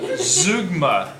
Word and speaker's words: zeugma: do with style today uh it is called zugma that can't be right that is right that is how you pronounce it according to the book so let's get into it then zoogma is when there are unexpected items in a